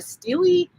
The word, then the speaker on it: stele: Is it a stele, or is it a steel, or is it a steely? I mean, I don't even know. Like, I think Cassie has said that it's pronounced steel.